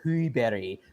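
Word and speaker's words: Sjöberg: It's actually pronounced Axel Huiberi, but there were like 3 different years of like the Rapids community and the club deciding how to ultimately pronounce it before we got to Axel Schuberg.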